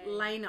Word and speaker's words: Lena: god that's amazing i it's actually Lena I've got to remember to say her name properly Lena has been such